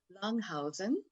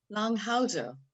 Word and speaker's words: Langhauser: And I want you to welcome everyone, Andrea, and I'll say this in German, Langhausen, nein, Langhauser, which means longhouse, a person who lives in a longhouse, actually, and Bridget Lawrence-Meigs.